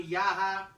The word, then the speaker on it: Yahya: Henry Briones versus Rani Yahya, or Yaya, however you want to pronounce it. I think it's Yaya.